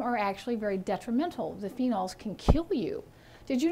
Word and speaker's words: phenol: find a very specific phenol it's spelled ph so the ph is making the f sound phenol p-h-e-n-o-l the phenols are